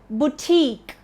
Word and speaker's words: boutique: The next one is boutique. BOUTIQUE. Boutique. Not boutique, but boutique. The stress is on the second part.